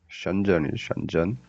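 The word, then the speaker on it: 深圳: 션전이.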